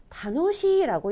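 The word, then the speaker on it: 楽しい: 이럴 때는 다노시라고 읽게 됩니다. 이럴 땐 발음이 변하게 되죠.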